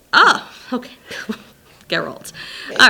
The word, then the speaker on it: Geralt: I think it's just Gerald, but like with a G. Oh, okay. Geralt.